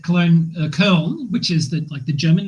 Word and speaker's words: Köln: And now in the German spell it, there's two little dots above the O in Köln. Yeah, they do not sound. They don't pronounce it Cologne. They pronounce it Köln.